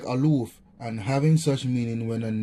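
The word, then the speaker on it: אַלּוּף: Pronounced like Aloof, and having such meaning when a noun as captain, duke, chief, friend, and governor.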